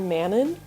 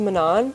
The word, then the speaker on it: Manon: this entire series is Manan which as I was reading it I always called her Manon I understand that that's not how you pronounce her name and I figured as